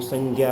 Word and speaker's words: संज्ञा: शुद्ध रूप में संज्ञा हम ज़्यादातर बोलते हैं, ग का ज़्यादा उच्चारण करते हैं।